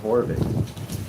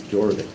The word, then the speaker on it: Jorvik: You know I want to make that J and H. Now call it Horvik. That's from Spanish, but I think it's Jorvik.